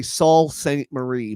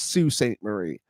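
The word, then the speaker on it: Sault Ste. Marie: sin soon and so it's it's all it's spelled like I should just say Saul sainte-marie but it's soo sainte-marie and I mispronounced the word I mispronounced it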